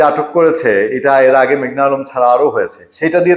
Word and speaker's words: মেঘনা আলম: বলেছে জোরে সোরে যে আমার নাম মেঘলা আলম না মেঘনা আলম নামটা ঠিকমত উচ্চারণ করতে বলেছে দেখেন কোর্টে এই ঘটনা